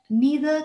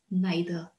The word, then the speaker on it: neither: fact before i proceed the fact that neither can also be pronounced as neither they're both right you can choose to say it any way you like and now are you